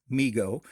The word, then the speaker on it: Mego: response to overwhelming demand migo pronounced m-e-e-g-o migo corporation was started by